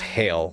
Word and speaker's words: Hail: smaller than a pig her name is pronounced hail like h i h a i l like the weather just imagine him